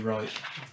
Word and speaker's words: Wright: Matthew _ Silent W Wright.